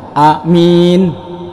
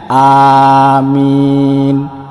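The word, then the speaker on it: آمين: Meminta perlindungan keamanan Nah kalau alifnya pendek dan mimnya panjang saya contohkan amin amin nah ini artinya jujur terpercaya Nah kalau alifnya panjang minnya panjang ini baru benar jadi yang saya contohkan bacanya amin amin Nah jadi huruf alifnya itu panjang mimnya juga panjang itu artinya Allah mengabulkan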